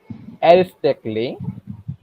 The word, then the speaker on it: aesthetically: A silent when it becomes before LLY.